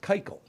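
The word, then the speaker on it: קײַקל: why that but um Circle and in Yiddish that's pronounced keikel okay that's where the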